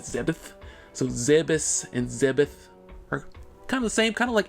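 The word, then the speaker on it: Zebes: of all time okay the official pronunciation of the planet is zebus i can confirm it's zebus if you play other m samus says zebus also if you look at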